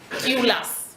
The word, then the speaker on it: Tylus: And another undertone, this one is very important, is by a Polish woman called, her surname is Tylus, if I'm pronouncing it right, T-Y-L-U-S.